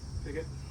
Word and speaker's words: Pigot: How do you say it, Paul? Piggott.